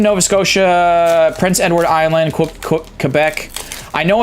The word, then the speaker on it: Quebec: It's pronounced Quebec.